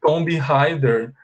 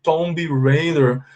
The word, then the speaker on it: Tomb Raider: then they say like zombie heider zombie raider attack tomb raider but you know in english it's incorrect okay you don't say like this because you don't pronounce the b and you say tomb so you say tomb